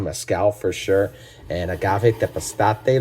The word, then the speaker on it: Tepeztate: And Agave Tepeztate, like I said, is phenomenal. Sometimes you will see it with an X instead of the Z. Same pronunciation, just different regions, language, dialects, things like that.